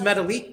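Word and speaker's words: Metalik: smart one right there it is pronounced metallic though i do know that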